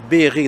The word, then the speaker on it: Berri: i well we say we say in english berry but it's beery that's the proper pronunciation it's beery you know